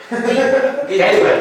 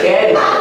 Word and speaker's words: Gateway: Gateway, eso, Gateway.